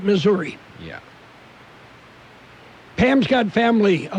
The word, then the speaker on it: Missouri: Well, if you're from Missouri, it's Missouri. Everybody else calls it Missouri.